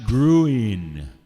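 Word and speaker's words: Gruene: your tickets they're selling pronounced gruin in texas yeah g-r-u-e-n-e yeah it's an old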